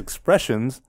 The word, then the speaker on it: Expressenz: So their name, the way they say it is Expressenz, but it's spelled EXPRESSENZ.